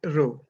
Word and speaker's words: rho: similar to small p it's a Greek alphabet and it's pronounced as rho so row is equal